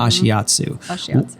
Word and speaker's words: Ashiatsu: So tell me, what drew you to Ashiatsu? That's how you say it, right? Mm-hmm. Ashiatsu.